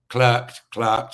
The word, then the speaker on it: clerked: She's clerked, as we say, clerked, as Americans say, for 2 Supreme Court justices, Chief Justice John Roberts and Justice Kavanaugh, Brett Kavanaugh, both conservative Supreme Court justices.